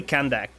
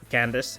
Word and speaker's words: Candace: It's clearly Kandake. Kandake. Yeah, I think. Which is real weird. The last C is totally pronounced as K in most other languages, if not all of them. But I guess in English it is Candace. It's the obvious pronunciation when you why it's not go. It's obvious pronunciation when you see this name. Well, now we know. It's fine to call her Candace.